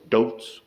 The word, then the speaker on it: Dilz: His name is Floris Dilts. D-I-L-Z. It's Dilts. Whoever knows.